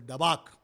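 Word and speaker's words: דבק: The cleave is an Hebrew word which is pronounced as a dabak.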